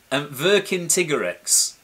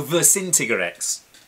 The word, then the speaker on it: Vercingetorix: And I can't pronounce his name, and I've tried really hard. Vercingetorix. Well, you say Vercin. As far as I always thought, it was Vercin. Oh, Vercingetorix.